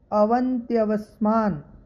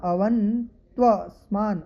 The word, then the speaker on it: अवन्त्वस्मान: आगे है ब्रुवन्तु ते अवन्त्यवस्मान, अवन्त्यवस्मान, अवन देखिए आधा न, अवन्त्वस्मान, अवन्त्वस्मान, इस प्रकार। पहले मैंने थोड़ा सा उच्चारण किया, यह बोल रहा था, यह नहीं है, इसमें देखिएगा श्रुवन ते अवन, देखिए अंतिम शब्द को देखिए ते अवन त्वस्मान, अवन त्वस्मान, इस प्रकार इसका उच्चारण किया जाएगा।